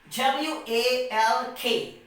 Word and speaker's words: walk: letter k and as by the rule that if the letter l comes before the letter k then l becomes silent so here what we